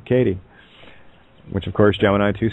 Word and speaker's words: Kate: My name that's right my name is see care all right my uh my name uh Kate pronounced properly is kati which is ka Egyptian